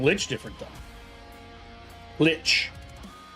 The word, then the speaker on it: lich: Lich. Not leech.